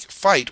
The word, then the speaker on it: fight: in this case so we don't pronounce it as a get we pronounce it as ight so we just have to remember that that I ght is going to produce the sound ight once we become familiar